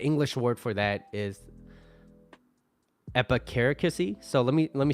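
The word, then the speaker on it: epicaricacy: I think the English word for that is epicare kissy so let me let me spell that out for you epi c-a-r -i-c-a-c-y so epicaricosee schadenfreude German word pleasure derived from someone uh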